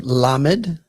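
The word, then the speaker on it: ל: little bit where it has more than one pronunciation. And we'll get into that here in a little bit. Following that, we have lammed.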